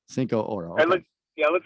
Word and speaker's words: Cincoro: So it's got two syllables. Cincoro. Cincoro.